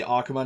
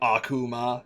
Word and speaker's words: Akuma: The emphasis is on the A. Yeah, you gotta like try not to overpronounce it. Like you gotta say Akuma, not Akuma, because then that's even weirder.